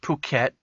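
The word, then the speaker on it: Phuket: to on the radio it's pronounced puket okay as in puket and uh he said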